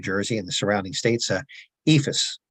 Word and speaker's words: EIFS: A case in point is in our home state of New Jersey and the surrounding states, EIFS, or EIFS, as some people prefer to pronounce it, is also known by the